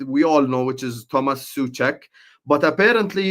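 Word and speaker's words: Souček: So I think obviously there's the guy that we all know which is Thomas Suchek but apparently it's pronounced Sek but Suchek is okay apparently but Thomas Sek is is the correct way.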